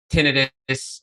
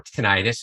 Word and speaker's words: tinnitus: things is for the uh non-medical um listeners tinnitus or tinnitus it can be pronounced either way i tell people it's like